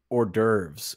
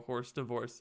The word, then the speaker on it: hors d'oeuvres: how about the people being like Ethan it's pronounced hors d'oeuvres in the Discord worst divorce it's like I